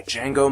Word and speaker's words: Django: eb voiced here by django marsh the d is silent eb's dad voiced by